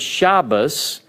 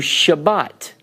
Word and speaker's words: Shabbat: that because the word Shabbos and as they pronounce it is spelled in Hebrew Shabbat with a T sound but certain sects of